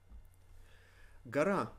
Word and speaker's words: гора: Гора. Гора is mountain. Гора. Гора. Because the emphasis falls on a, we pronounce this гора.